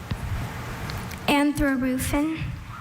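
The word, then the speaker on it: anthrarufin: Anthrorufin.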